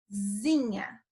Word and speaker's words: casinha: o pardon comigo e casinha realmente tem esse som de zinha zinha falem pazinha para nem aí comigo repito e ficam aí comigo tá cazinha zinha será que tá